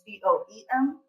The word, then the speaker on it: Boem: And so I asked if I could steal it because one of our players in Belgium is screening is boom, but it's BOEM.